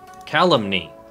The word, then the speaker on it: calumny: calumny calumny how do you pronounce it calumny calumny it's pronounced calumny Wow I did not would not